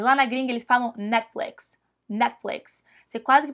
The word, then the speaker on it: Netflix: e séries mas lá na gringa eles falam Netflix Netflix Você quase que pronuncia super rápido esse net net e depois um flix Netflix Netflix não Netflix como a gente fala aqui